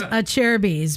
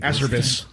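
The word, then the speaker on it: Acerbis: It's pronounced a cherries. People mispronounce it. Aserbus.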